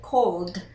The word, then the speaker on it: called: So we add the ed. We do not pronounce the e. We simply say called.